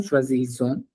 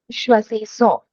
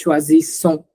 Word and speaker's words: choisissons: it's pronounced as S and not Z. Okay, Yeah. double S, vowel, vowel. We pronounce it as S. So this is choisissons.